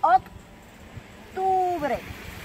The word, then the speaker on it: octubre: October, octubre. Remember the pronunciation, the O is always O.